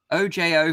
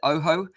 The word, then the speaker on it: OJO: move on let's talk about there the ASA Oh Jo 500 headset what is that is that a